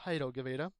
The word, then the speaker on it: Jairo Guevara: Quite literally served on a silver platter there for Jairo Guevara, which I believe is more accurately pronounced as Jairo Guevara.